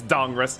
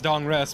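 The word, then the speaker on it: Dahngrest: It's Dongrist now. It is Dongrist. That's what they've been calling it. And you can separate it out as Dongrest, but it's Dongrist.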